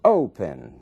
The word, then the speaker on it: open: Open. Ali na primeira sílaba é que está a força dessa palavra, é que está a sílaba tônica.